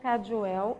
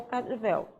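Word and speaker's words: Kadiwéu: Vocês vão pesquisar na internet sobre os desenhos gráficos do povo indígena Caduel ou Caduvel. e vão responder, porque tem as duas pronúncias, tá, pessoal? Cadivel ou Cadioel.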